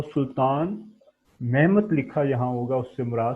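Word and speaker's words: Mehmet: तुर्क लैंग्वेज में मोहम्मद की प्रोनाउंसिएशन मेहमत के नाम से होती है, तो कहीं मेहमत लिखा हो तो इससे मुराद आगे लास्ट में डी के बजाय टी आता है, टी फॉर टॉयज, तो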